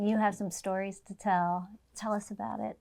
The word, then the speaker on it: Takei: But the Kay rhymes with other words like day, say, may, play, gay.